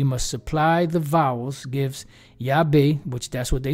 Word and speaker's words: Yahweh: how it's pronounced so often transliteration might be more exactly represented by yave this is the Yahweh